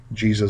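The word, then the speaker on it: Jesus': yes furthermore you don't would not pronounce the extra s either so it's jesus apostles jesus disciples jesus teaching number eight has to do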